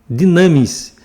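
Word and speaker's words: δύναμις: A palavra usada em Atos 1,8, recebereis poder, é dinamis. Dinamis. Se escreve D-U-N-A-M-I-S, mas se pronuncia dinamis.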